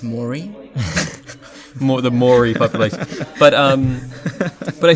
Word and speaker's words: Māori: It's pronounced Maury.